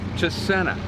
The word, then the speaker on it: Chisena: Chisena.